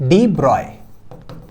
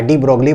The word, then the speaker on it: de Broglie: सही लिखा जाता है लेकिन इनका जो रियल नाम जो प्रोनंसिएशन है ना वो है डिब्रॉय ब्रॉय बी आर ओ वाई ब्रॉय ठीक है तो प्रोनाउंसड एस डिब्रॉय डिब्रॉय डिब्रॉय तो कोई बात